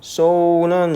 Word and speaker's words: sew: sew는 이게 바느질한다 이런 뜻이죠. 발음은 sew예요. sew일 것 같은데 sew예요. sew. sew입니다. sew.